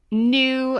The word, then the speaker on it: nu: frequency is new so nu is another greek letter it's just pronounced new um kind of like